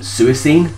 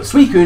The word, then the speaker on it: Suicune: mispronounce it just then I used to think this thing was pronounced sua seen which is dumb but suicune is going to be